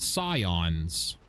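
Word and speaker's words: Psion: there are enemies called sions Scion is spelled with a p at the at the start silent silence P got a silencer on it I am a very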